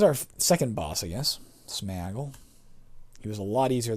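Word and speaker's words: Sméagol: I know a lot of people say Smeagol. The actual word in the book has an accent aigu over the E. The proper pronunciation, based phonetically on what they've written, should be, to my mind, Smeagol. So you'll hear me call him that. It's not Smeagol.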